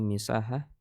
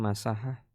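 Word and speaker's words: مساحة: Kalau di sini dibaca misahah. Kalau di Arab, di Saudi kita bacanya masahah. Kam masahatu, gitu. Masahatu bainal madinati wal Makkah masalan, ya gitu ya. Pakainya masahah. Di sini pakai misahah.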